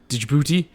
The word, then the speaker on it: Djibouti: Being in the Foreign Legion and Djibouti. Oh, Djibouti? Djibouti? I believe the D is silent.